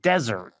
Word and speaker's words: desert: so this is weird it's spelled like desert with One S but it's pronounced like dessert H what is that